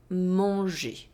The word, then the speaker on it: manger: For example, with the verb manger, the infinitive have the je sound.